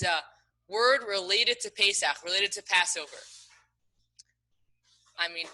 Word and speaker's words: Pesach: The answer is Pesach. Pesach is how you say Passover in Hebrew.